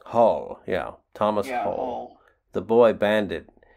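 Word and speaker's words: Hoal: do i say is the h-o-a-l was his actual last name i assume it's pronounced hull hull yeah thomas the boy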